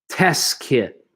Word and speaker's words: test kit: Test kit. There's another one of those words again. So I'm almost not pronouncing the second T here.